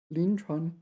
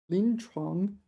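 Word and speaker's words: 临床: Lin Chuan, clinical. Lin Chuang. Got to pronounce that G.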